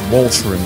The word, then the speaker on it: Walcheren: get the better of the Germans also it's pronounced Voltron okay so I guess uh the Gallagher is